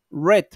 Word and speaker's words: read: y en este caso se pronuncia como cuando se pronuncia el color rojo red sí read and red